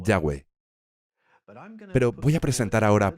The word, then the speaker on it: Yahweh: Cómo se pronunciaran Bueno cuando ponemos las vocales en el nombre las H casi desaparecen se convierte en yahwe pero voy a presentar